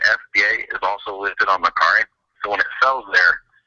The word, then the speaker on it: Mercari: A lot of people are asking about this Mercari.